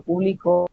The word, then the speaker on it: publico: este caso sería yo publico para que sea la misma palabra, y sin tilde, estamos haciendo la mayor fuerza de voz en su segunda sílaba, es decir, en la sílaba de en medio.